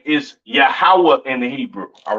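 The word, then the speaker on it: יהוה: m okay quick recap the lord's name is yahawah in the Hebrew all right yahwah in the Hebrew left I mean excuse me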